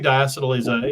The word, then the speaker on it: diacetyl: Well, if I'm pronouncing it correctly, it's diacetyl.